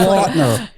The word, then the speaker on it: Lautner: Lautner.